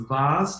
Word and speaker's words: vase: nice drawing nice sketch it's a vast or a vase depending on how you pronounce it in your part of the world you might have a